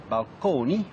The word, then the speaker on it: balcony: So, balcony, still pronounced at that time in the Italian manner, balconi, as well as fresco,